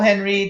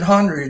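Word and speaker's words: Henreid: is we love paul henry again it's uh we love paul h-e-n-r-e-i-d follow her i think he pronounced it hungry didn't he it's no it's henry it's he's he's doing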